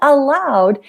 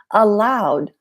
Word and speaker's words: aloud: Singing aloud is not allowed. Maybe at work, maybe at the library. It is not allowed to speak aloud in here.